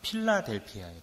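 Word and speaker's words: φιλαδελφία: 이 우애라는 말은 원어 그대로 발음해보자면 필라델피아예요.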